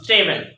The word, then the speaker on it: table: ইংরেজিতে আমরা বলবো ট্রুথ টেবিল। এখন আলোচনা করব ট্রুথ টেবিল নিয়ে, TRUTH ট্রুথ, TABLE টেবল, আমরা এটাকে না বলি টেবিল, আসলে টেবিল না টেবল। ঠিক আছে, অর্থাৎ আমরা ঠ উচ্চারণ করতে হবে টেবল, টেবল।